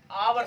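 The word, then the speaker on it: hour: तो हम इसको, अगर आप हावर पढ़ते हैं तो आप बिल्कुल गलत पढ़ते हैं, इसको हम पढ़ते हैं और 2 और 3 और 4 और 5 और 6 और 10 आवर्स, ऐसे इसको हम पढ़ा करते हैं।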